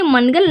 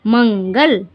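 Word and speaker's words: منگل: लेकिन ये मनगल नहीं पढ़ा जाएगा, आप लोग ध्यान दीजिए, यहाँ पर नून गुन्ना लगेगा, ठीक है। मंगल, बे पेशबू और दाल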